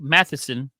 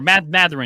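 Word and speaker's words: Mathurin: Benedict Matheson. Or Matherin, excuse me. I got to say his name right.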